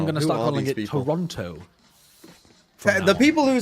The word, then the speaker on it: Toronto: towards their own spawn firstly let's stop pronouncing the second T in Toronto okay so are we also going to start pronouncing Paris as in fact I'm going to start calling it Toronto the people who say